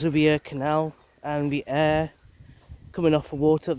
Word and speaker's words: Ure: It's spelt U-R-E, River Air, and this little sign